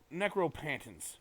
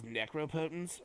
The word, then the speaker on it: Necropotence: somebody will be like, "Oh, like this necropantance," and he's like, "Actually, it's necropotence, faggot," and like just like the voice that he does is fucking hilarious.